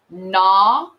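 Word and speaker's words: gnaw: can't hear the b nah can't hear the g and nat can't hear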